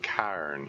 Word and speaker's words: cairn: It isn't quite Carn, it isn't quite Cairn. It's I don't know if I say it right. Cairn. It's like an ah sound. Cairn is apparently how that word is supposed to be pronounced. It's like a Gaelic thing or something.